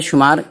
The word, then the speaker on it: shh: इसी तरह SHH, इसका तलफ़ुज़ होता है श, श।